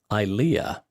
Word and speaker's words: Ilea: According to what she wrote, I should be pronouncing her name Ilea.